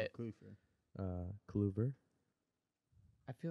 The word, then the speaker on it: Kluver: Kluver.